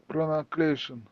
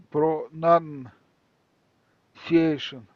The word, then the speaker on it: pronunciation: Pronunciation. Yes. You see pronunciation pronunciation. Mhm. So if you see a long word that may seem difficult, don't rush. Just go letter by letter.